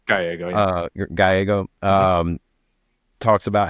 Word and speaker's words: Gallego: in Ruben Gallego, I think that's how you pronounce his last name. Gallego.